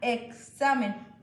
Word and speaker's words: examen: Por ejemplo, cuando decimos examen, suena examen. Ortográficamente tenemos que escribir la X, pero se emite diferente sonido.